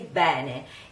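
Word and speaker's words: bene: then when we speak we say Benny and you can also hear some Mother Language singers same been a with the closed e e Benny so you can I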